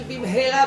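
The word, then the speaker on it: במהרה: Dans la Amida, c'est écrit Bim Hera Beyamenu. Et lui, Barmenan, il dit Bim Hera, sans le. Il ne prononce pas bien le He. Bim Hera, c'est vite.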